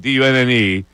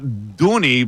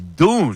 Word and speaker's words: Dunne: The surname Dunn, Dunne, is typically pronounced Dunn in Ireland. However, some people may pronounce it as Dune. Dune. Right. So it's not Dooney, but it's Dune.